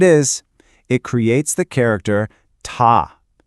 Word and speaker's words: 他: It creates the character ta. It's pronounced ta with a high flat tone.